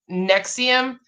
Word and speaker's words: NXIVM: that was us authorities began investigating nexium pronounced nexium there's a couple different